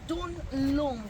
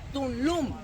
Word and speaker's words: Tulum: The real name on Maya was Tunlum with the N. Tulum. Tul means on Maya stone and lum land. But when the Spaniards came here, they changed most of our names because the pronunciation they're easier. And now we know it as Tulum.